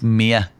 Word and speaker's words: Mir: Is it Frank Mir? Because that's how I've pronounced it for years. Perfect pronunciation. It's Mir. Yeah, brilliant. But as I always say